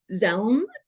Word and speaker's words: Dzelme: So the Court of Appeal in Zelm, and that's spelled DZELME, said that it was at the